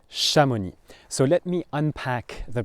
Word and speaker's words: Chamonix: And this place is called Shamoni. Shamoni. So let me unpack the pronunciation of the word for you.